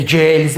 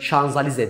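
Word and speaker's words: Champs-Élysées: bu şok Şanzelize Hee c50z yazdı oraya çantamız Evet Paris şanzeliz de okunur kağıtla şeylerin stresli bir tane arabası var ya böyle işe elinize c50z diye millet söylüyor Aslında onun okunuşu Şanzelize dir yani Citroen Paris Şanzelize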